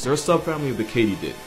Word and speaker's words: katydid: a subfamily of the katydid which is apparently how you pronounce it Not only was I